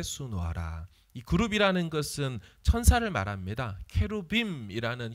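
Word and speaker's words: כרובים: 그룹이라는 것은 천사를 말합니다 케루빔이라는 히브리 발음인데 그것을 한글로 번역할 때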